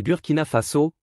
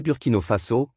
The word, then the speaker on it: Burkina Faso: C'est Burkina Faso, pas Burkino Faso, comme vous l'avez prononcé, a corrigé Traoré avec un léger sourire.